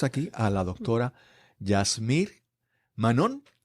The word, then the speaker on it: Manon: Hoy tenemos aquí a la doctora Yasmir Manon, con acento en la O, con la fuerza en la O.